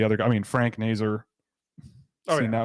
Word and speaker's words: Nazar: It's Nazer apparently, but it was Nazar until suddenly Yeah. the NTDP commentators started calling him Nazer, and then that caught on and everybody was calling him Nazer.